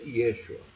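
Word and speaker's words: ישוע: é grafado como Yeshua, que se pronuncia Yeshua. Muita gente fala Yeshua, não é Yeshua, essa é a pronúncia correta.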